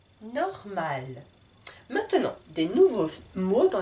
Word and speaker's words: normal: Normal. J'insiste sur le R ici. Normal. Et sur la consonne finale, le L. Normal. À vous de lire maintenant. La lune. Un menu. La nuit. Normal.